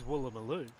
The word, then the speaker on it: Woolloomooloo: so this one is Woolloomooloo. Why? ah. So sometimes your double O's are an A, sometimes they're actually a double O, and sometimes they're a U.